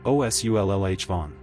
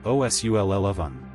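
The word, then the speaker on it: O'Sullivan: In the US, you'll hear things like osu or os lh von. The corrected version is closer to os lan. S u ll like sullen then uh then vun.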